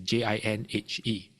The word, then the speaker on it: JinHe: And I will say, oh, it's He, but it's pronounced as her, Her, or Ben-Her.